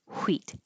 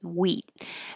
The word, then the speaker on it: wheat: it that way wheat no h at all just wheat and because this word